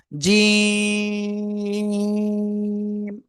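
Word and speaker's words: ج: জিহ্বার মধ্যকান তার বরাবর উপরে তালুর সাথে লাগিয়ে এটা তিন আলিফটা নিয়ে উচ্চারণ করব। জিম সবাই একসাথে জোরে জোরে বলেন।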